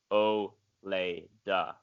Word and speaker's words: Ouilda: But her name is Oleda. It is spelled Ouilda, and it is pronounced Oleda.